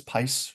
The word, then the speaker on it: Pice: then pice Energy Solutions so that's pice rhymes with spice uh they are an